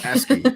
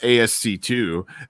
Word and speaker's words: ASCII: bit like it's letters and numbers and i mispronounced it in my video and brian vines was like hey dummy it's asking not asc2 and uh i'm like i should have known